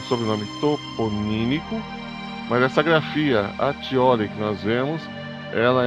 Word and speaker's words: Accioli: Muitos falam Accioli, mas a pronúncia correta italiana é Accioli ou Acchioli.